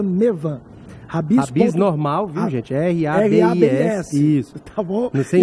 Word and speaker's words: Rabis: R-A-B-I-S. Isso. Tá bom? Sem Y, sem H. E a pronúncia é Rabis. É Rabis, tá?